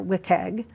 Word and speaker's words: WCAG: So Now there exists Web Content Accessibility Guidelines, or WCAG, as it's pronounced for short.